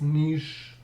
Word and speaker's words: Niš: Belgrade, Novi Sad, Kragujevac, Niš, this S is with V over it, diacritical sign V over it, which is pronounced as Sh in Serbian, and Pristina should also